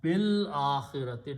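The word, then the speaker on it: بالآخرة: Harf jar harf jar will change akhirato to akhirati, and you pronounce bil akhirati. Don't pronounce this alif.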